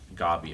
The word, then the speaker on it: Gabi: They pronounced it Gabi, I think. Yeah, Like Gabi's Desert from not like Gabrielle.